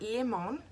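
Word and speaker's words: Limón: Is it Limon or Lemon? It's pronounced L-I-M-O-N. So I'm going to say Limon or Limon. Sounds weird.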